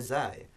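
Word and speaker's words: زاي: this here, is because in Urdu, all of these letters are pronounced as an English Z, but that's only the zai. Properly, only the zai should be pronounced like the English Z, and the others are very different.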